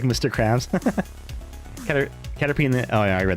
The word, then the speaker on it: Caterpie: A I pronounced it cat pie because it's p i e. Caterpie.